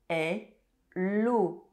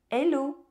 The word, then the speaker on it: hello: Hello. Hello. Hello. And yes, in French, the letter H is silent.